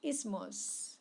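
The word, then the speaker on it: isthmus: so let's find out first is ismos by the way it's silent t so we say the word as is okay it is in our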